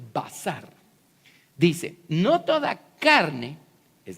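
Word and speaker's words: בשר: Basar, así se pronuncia. Ya que se están familiarizando un poquito con todos estos simbolitos, así se escribe. Basar, así se pronuncia, basar.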